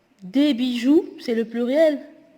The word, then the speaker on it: bijoux: Des bijoux, c'est le pluriel. X, on ne prononce pas le X.